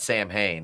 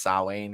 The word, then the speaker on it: Samhain: It's not Sam Hain. It's Sawane or something like that.